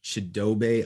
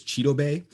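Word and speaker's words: Chidobe: them a puncher's chance i believe we are mispronouncing chadobe i think it is cheeto bay i was listening to uh the cincinnati bengals defensive coordinator speak this week and he uh pronounced it as cheeto bay so uh if we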